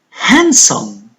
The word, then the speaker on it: handsome: but e for rain the G is a silent letter handsome handsome good D the signs leather fight fight